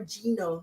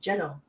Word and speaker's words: Geno: I did ask him how do you say your name Jano or Gino he said Jano so I got it right it's goo and Merry